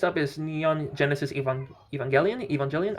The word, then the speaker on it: Evangelion: Evangelian. I think it's Evangelion. I heard people pronounce it Evangeli.